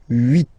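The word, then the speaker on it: huit: Then here, final T is pronounced. So 8, 8. Remember in French, this H letter here, okay, doesn't exist phonetically, so we don't really pronounce it. Okay, so if you listen carefully, you will only listen or hear these vowels at the beginning of the word. 8, 8.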